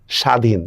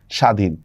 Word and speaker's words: স্বাধীন: বফলা দেখেন আগের মতই শব্দের শুরুতে বফলা যুক্ত হলে তার উচ্চারণ হয় না এখানে কিন্তু আর চন্দ্রবিন্দু চন্দ্রবিন্দু কিছুই নেই যেমন দেখেন স্বাধীন দেখছেন বফলার উচ্চারণ হচ্ছে না স্বাধীন স্বার্থ দেখছেন বফলার উচ্চারণ